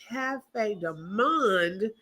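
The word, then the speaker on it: Café du Monde: She said it's Cafe de Monde. That's how it's pronounced.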